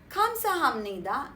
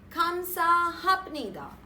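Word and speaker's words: 감사합니다: a good chance when a syllable ends with per and is followed by a syllable that begins with no the power is pronounced as ma example kamsahamnida and not kansa hapnida kamnida and not kapnidaa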